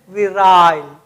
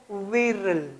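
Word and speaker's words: virile: British English में पढ़ते हैं विराइल और अमेरिकन इंग्लिश में पढ़ते हैं विरल। ठीक, तो आप इसको विराइल भी पढ़ सकते हैं और विरल भी पढ़ सकते हैं। ये ब्रिटिश प्रोनाउंसिएशन है और ये अमेरिकन प्रोनाउंसिएशन है, ये आपको ध्यान रखना है, विरल या विराइल।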